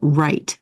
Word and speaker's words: write: a little sketchy but write so you know the W is silent write them down and